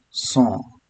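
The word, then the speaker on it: cent: After that we'll have 100 that is song. So t is silent here.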